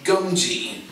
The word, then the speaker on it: Gungi: Is it Gungi? Yep, that's the name of the business. Yeah, just had to make sure I'm pronouncing your business correctly. Yes. Gungi.